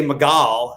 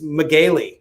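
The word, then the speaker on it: Megale: had his name totally wrong uh it was it's spelled m-e-g-a-l-e and i was gonna say magal and i last last second i said how do you i said oh do you pronounce it miguel and he goes actually it's magely and i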